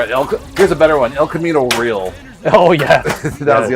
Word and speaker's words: El Camino Real: El Camino real.